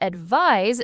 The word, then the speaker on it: advise: And advise spelled with an s is the verb. It's the action of giving the suggestion. The n sounds like a z like eyes.